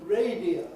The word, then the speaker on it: radio: So you've got the word radio, for instance, which has 3 syllables when you say it by itself, usually. Nobody ordinarily says radio. It's fast, that is. But when I say Radio Times, I've only got it 2 syllables.